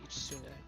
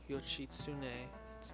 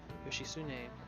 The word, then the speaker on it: Yoshitsune: Minatomo no Ichitsune. This is it. Correct. Exactly. Magistrate was Minamoto no Yoshitsune's title. Yoshitsune? You can never pronounce it right. Because of the THU is like a su sound, which later became his nickname.